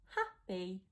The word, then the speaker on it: happy: So the Y makes the E sound at the end of happy.